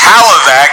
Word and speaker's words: Hlavac: Adam can't even pronounce his last name properly. It's Hlavac.